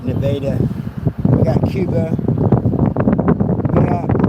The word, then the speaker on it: Nevada: We got it looks like it should be Nevada, but they everybody in the town pronounces it Nevada.